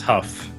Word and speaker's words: Huff: I said, right? I'm saying it right? No, it is Huff.